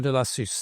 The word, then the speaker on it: Delassus: so um but uh so that was M deasis that's how you pronounce that name so as we do in